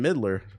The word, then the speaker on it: Midler: Based on a tweet from Jordan Midler, rhymes with Diddler, it would appear that Days Gone is going to be one of those games announced.